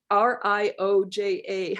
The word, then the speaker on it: Rioja: is valoria day how do you r use r-i-o-j-a how do you say that rioja yeah yeah